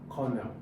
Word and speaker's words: colonel: So, how do you pronounce the word cornel? Cornel. Now, this is cornel. Cornel. And you see that? So cornel. Now the O here, this O is silent. So that's how you pronounce the word cornel.